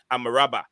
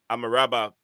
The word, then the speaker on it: Amrabat: But anyway, guys, if you're listening, the right pronunciation of Amrabat is Amaraba. Amaraba.